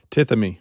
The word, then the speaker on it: Tithemi: mess up the name, but how do you pronounce this? Tithemi.